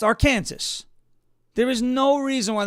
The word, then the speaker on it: Arkansas: when I'm the president, if it will be pronounced Arkansas, there is no reason why that should be pronounced Arkansas.